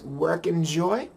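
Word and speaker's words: wrknjoy: variable called work it's it kind of pronounces as work en Joy w r k NJ Y and it is also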